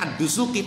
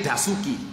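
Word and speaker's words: ad-Dasuqi: Kalau di Arab bacanya Ad-Dusuki, tekaning Indonesia dadie Dasuki.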